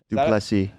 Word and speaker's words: du Plessis: All right, next next we got Whitaker versus Dricus du Plessis. Ooh, Dricus Duplessis? Duplessis.